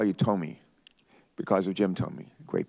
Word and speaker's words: Tomey: I want to call you Tommy because of Jim Tomey, great baseball player. So please excuse me. How do you pronounce your name? I pronounce it Tommy, but I answer to anything.